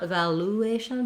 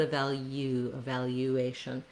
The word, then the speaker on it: evaluation: And then just like in value, in evaluation, we have the Y sound. So not evaluation, but evaluation. A little bit of a glide there.